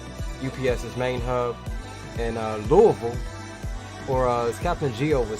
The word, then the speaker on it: Louisville: on down to ups's main hub and uh louisville or uh captain geo would say uh what